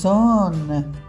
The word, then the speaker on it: ځان: ځ، ځان، ځان. ځ د الف سره راغلی، ځا شوي، ځان.